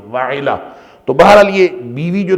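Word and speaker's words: وعلہ: کا نام بعض نے وہلہ لکھا ہے، واو ہا اور لام ہا وہلہ، بعض نے لکھا ہے وعلا، وعلا تھا، اس کا صحیح تلفظ تھا واو عین لام اور ہے، وعلا۔ تو بہرحال یہ بیوی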